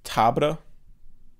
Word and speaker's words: Tabr: I always read it as Siege Tabor, but in the movie they're saying Tabra. Because it's spelled T-A-B-R.